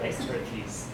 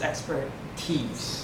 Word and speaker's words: expertise: get one syllable wrong I heard someone say expert expertise like expertise right but it's expertise it's actually the sound of an e expertise so this is the